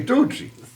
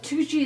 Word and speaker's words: Tucci: Tucci is spelled Twocchee. Tucci. Two. When people don't know how to spell it, I say two cheese, but without the Without the Swiss.